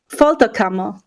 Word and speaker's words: Folterkammer: me I'm gonna need help with all these pronunciations okay no problem the name of the band is fto camo yeah I would have never got that so